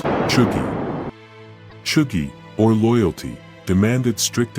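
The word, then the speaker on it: chūgi: Pronounced, Chugi.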